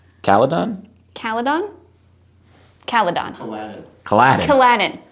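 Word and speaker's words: Caladan: Caladon. Caladon. It's like Aladdin.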